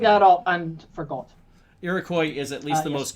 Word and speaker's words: Iroquois: first nation but uh the pronunciation i've always heard here in the midwest is iroquois so if that helps in it i make to look at all and for gold iroquois is at least the